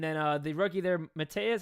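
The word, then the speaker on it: Matas: More on diehard Bears, but uh and then uh the rookie there, Matteas, how do I pronounce his name? The He's Matez. Matez, he's been he's been cooking.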